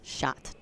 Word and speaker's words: Schjodt: We also, how do you pronounce last name? Oh. Schjodt. Schjodt.